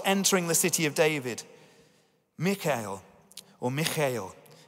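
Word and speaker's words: Michal: As the ark of the Lord was entering the city of David, Michael is how you pronounce it, Michael, daughter of Saul, watched from a window.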